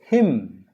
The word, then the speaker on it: hymn: m n that is him him just like h i m h i m and h y m n are same pronunciations but different words h